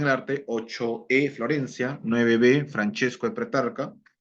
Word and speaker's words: Francesco: Francesco de Pretarca, ¿no? En italiano. Francesco se escribe, pero se pronuncia Francesco.